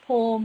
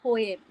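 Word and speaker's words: poem: basically going on that is इट पोम और पोयम और any sorts of pronunciation but नाउ वी बी an Indian we कैन से not like it's not something not accepted but टू be honest I would rather rather से इट्स अ पोयम like like the general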